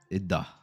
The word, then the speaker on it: Iddah: iddah.